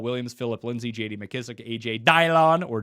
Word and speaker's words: A.J. Dillon: McKissick, A.J. Dillon, or Dylan, as others say his name, James Conner, David Johnson, and then James White at number 40.